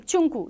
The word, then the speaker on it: Chunku: Chin, check, like my name, Chunku, CH, is pronounced as ch.